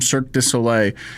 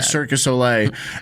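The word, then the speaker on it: Cirque du Soleil: he he comes from Cirus Sole. It's a tough one. I I can never say it right. I always want to say circus so ole and not cirus sole and what you know what I mean.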